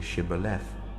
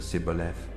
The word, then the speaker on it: Shibboleth: » Les gardes lui disaient alors de prononcer « Shibboleth » parce qu'ils savaient que les gens d'Éphraïm pouvaient dire « Sibboleth » mais pas Shibboleth.